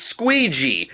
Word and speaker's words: Squeegee: Ron Jeremy is Squeegee, the name that rhymes with Luigi.